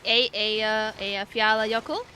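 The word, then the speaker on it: Eyjafjallajökull: Queen of pronunciation. You just declared yourself that. So. Yeah. Let's see. A Fiala Yoku.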